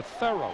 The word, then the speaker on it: Theo: determination by Theo Mitchell asked him early on do you want to pronounce it Theo or Theo he says Theo because it rhymes with hero the minute we have